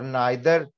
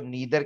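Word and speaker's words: neither: और नाइदर, ज्यादातर लोग इसको नीदर कहते हैं, टीवी में भी आप नीदर सुनेंगे, वो भी ठीक है, मैं ये नहीं कह रहा कि वो गलत है, लेकिन मुझे नाइदर कहना पसंद है।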